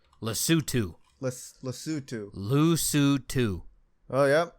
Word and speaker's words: Lesotho: ah but uh yeah ah how do you pronounce it uh less Lesotho I that's my guess I'm trying to find pronunciation all right Lesotho let's let's do oh yeah yep it is